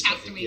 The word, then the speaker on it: Castaway Cay: Actually, it is Castaway Key. It's spelled K, pronounced Key, I guess.